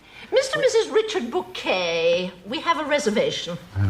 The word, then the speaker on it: Bucket: Oh, bucket. Oh, yes. We have a bucket pronounced bouquet, dear.